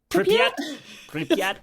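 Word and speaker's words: Pripyat: They evacuated people like the So, so the town I don't know how to say this, Pryat. Priyat.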